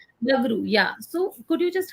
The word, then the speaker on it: Bagru: further, may I just ask, when you said that Bagru, if I'm spelling it, I'm Bagdu, pronouncing yeah. correctly, Bagru, yeah.